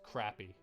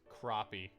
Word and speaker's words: crappie: fishing for crappie um i always thought it was pronounced crappy that's what i always heard was because that's a funny name for a fish right and it looks like it's spelt crappy like c-r-a-p-p-i-e but i guess i've just been wrong all this time because it is in fact crappy and um my friend made sure to correct me on that as much